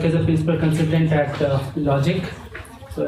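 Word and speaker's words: LodgIQ: a principal consultant at logic so it's an OTG IQ but we pronounce it is logic basically my complete into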